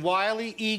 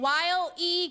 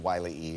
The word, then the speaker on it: Wile E.: You added an extra syllable. You did Wiley E, and that was pretty easy to do, unfortunately, for Jim, but good for you, I guess.